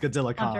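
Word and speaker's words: Godzilla x Kong: The X is silent. It's just Godzilla Kong.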